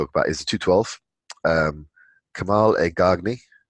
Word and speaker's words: Kamal Elgargni: Kamal Elgargni. That's how you pronounce it. Kamal, everyone just calls him Kamal.